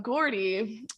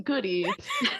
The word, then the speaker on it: Gordy: I gotta say it right. The scoop on Gordy. I ended up saying the scorp on Goody, and Kate and Archer won't let me forget it.